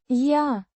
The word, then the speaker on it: Я: Pronounced. Я.